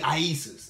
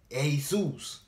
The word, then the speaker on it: Iesus: lack of knowledge because if you put iesus put the pronunciation and go it's not gonna be isis it's gonna be asus you see what i'm